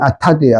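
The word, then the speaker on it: אטד: 아다 아타드 히브리어는 발음은 아타드예요.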